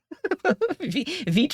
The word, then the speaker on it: Vite: Does Vite rhyme with bite or night? Neither. It rhymes with feet. Vite rhymes with feet. So Vite or is French for fast, I'm pretty sure.